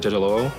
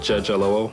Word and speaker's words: Jejelowo: It's just pronounce it exactly phonetically how it looks. Hi, my name is Jejelowo. That's Jejelowo.